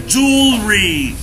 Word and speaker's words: jewelry: يبقى الكلمة دي اسمها jewelry. jewelry. jewelry. المجوهرات. jewelry. letter J قبل ما تنطقها حط له دي في بقك كده وتقول jewelry.